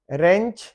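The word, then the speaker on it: wrench: रेंच, हाँ इसमें W silent है।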